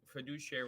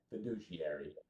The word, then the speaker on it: fiduciary: It's an Okay, we got the So, first of all, I like that we have the the pronunciation fiduciary. Fiduciary. Prediary. Emphasis on the douche.